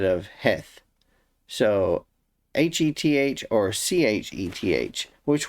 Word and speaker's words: Heth: stuck out to me heth because in the csb the word is c-h-e-t-h or chet instead of yeah chet instead of heth so h-e-t-h or c-h-e-t-h